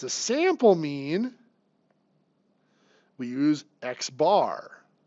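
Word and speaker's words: x̄: If it's a sample mean, we use x bar. So x with the bar over it is pronounced x bar.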